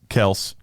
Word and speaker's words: Kelce: Kels. Ryan, he and I know likes to you be say pronounced.